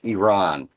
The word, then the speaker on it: Iran: b-roll I'm sorry I said it right it's Iran that Iran it's Iran to make that correction